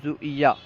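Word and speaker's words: ژوئیه: Zone کہیں گے۔ جولائی، جولائی کو زویہ، ٹھیک ہے، جولائی کو فارسی تلفظ میں اگر ہم ادا کریں گے تو یوں کہیں گے زویہ، جولائی زویہ۔ اگست، اگست کا فارسی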